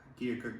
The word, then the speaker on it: Keokuk: Keokuk doesn't have an R and it doesn't have an L.